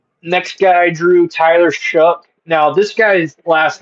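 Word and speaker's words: Shough: Um, next guy I drew, Tyler Shook. Now, this guy's last name pisses me off, bro. Yeah, it's spelled like show. Sh H O U G H, but it's pronounced like Shuck or something like I don't even know if I'm saying that.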